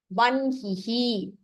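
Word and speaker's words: वह्निः: Now, the only exception in pronunciation would be in type 4, where hakaraha is followed by the Anunasika aksharam. The Anunasika aksharam is pronounced first. Brahma, vanhihi, grinhati.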